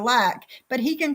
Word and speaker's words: Lac: Because I didn't know how to pronounce his name, L-A-C. I thought Lacey, right? And he said I was homophobic for calling him Lacey instead of Lack.